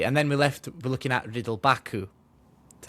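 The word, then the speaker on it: Ridle Baku: So then we've got nobody, and then we're looking at Riddle Baku. That's how you say it? Yeah, Riddle Baku.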